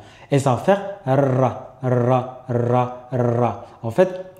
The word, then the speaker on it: ر: Alors pour la prononciation de cette lettre-là, elle va être emphatique uniquement lorsqu'elle a une fatha. Et là, je veux dire ra, ra.